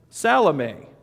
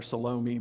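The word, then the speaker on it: Salome: Les and Joseph and salame or you might call her salomi but salame is how you pronounce her name who also followed him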